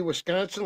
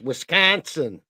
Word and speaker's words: Wisconsin: And no, I am not going to say Wisconsin like Creed does, Mary, because that's not how we say it. It's Wisconsin. Got to put the emphasis on the right syllable.